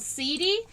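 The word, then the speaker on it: setae: Insect hair is called seedy, and that is spelled S-E-T-A-E.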